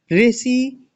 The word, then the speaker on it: ऋ: यानी कि हमको ऋ का उच्चारण स्थान बताना है। तो ऋ का उच्चारण स्थान क्या होता है? मूर्धन्य।